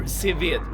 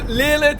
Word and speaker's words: Seven: Sevid. That is how I pronounce the name. Sevid. I am mad. Sevid. There you go. A very, very Swedish pronunciation. I'm still not quite sure what we're doing, so let me just explore, I suppose. Oh yeah, Lilith is also a very acceptable way of saying my name.